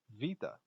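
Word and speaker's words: βήτα: alpha beta and gamma that beta in greek is really pronounced more like vita and you've used pi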